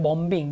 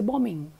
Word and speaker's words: bombing: is silent for example in bombing you speak the first letter B but you don't speak the second book you don't say bomb being you say bombing if you take another